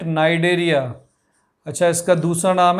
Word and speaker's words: Cnidaria: चलो इसका निडेरिया, third is CNIDARIA, C silent नाइडेरिया।